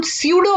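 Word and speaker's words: pseudo: हम प्रति you don't नहीं पढेंगे इसे हम स्यूडो पढेंगे प्लीज इसमें आप इस आयरलैंड है और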